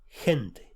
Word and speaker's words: gente: G-U, guru, G-E, gente, people.